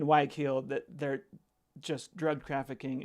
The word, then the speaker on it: Guayaquil: I mean, on the coast of Ecuador and in Guayaquil. Sorry, I'm saying it wrong. And Guayaquil, that they're just drug